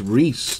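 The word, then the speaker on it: Rhys Hoskins: I was calling him Rice for the longest. Then I heard it's Reese, the correct pronunciation.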